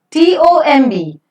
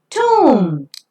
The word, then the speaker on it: tomb: T-O-M-B, tomb. B is silent here. It's pronounced as tomb.